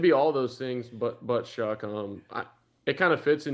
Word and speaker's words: Shough: What's the worst pronunciation of Shough you've heard? Shough, Shough, Shough. I mean, it should be all those things, but Shough.